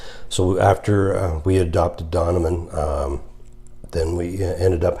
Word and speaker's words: Donovan: Uh his name is Donovan. Actually pronounced Dunovan.